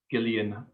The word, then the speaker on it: Gillian: i'd choose jillian flynn although i think it's pronounced gillian which is very weird i don't think i can say it like that so i'm going to keep calling it jillian flynn yeah and i